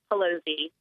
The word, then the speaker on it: Pelosi: now is alexandria and i think it's pelosi but i need to check and make sure i'm saying it right because i just email her all the time and i never have to say her name and she's with consumer women for america alexandria thank you for joining me thank you for having me your corrective pelosi okay very good not to